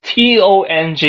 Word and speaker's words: tong: This T-O-N-G in Indonesian, that means poo.